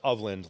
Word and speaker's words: Ofland: So, it's of land like of the land.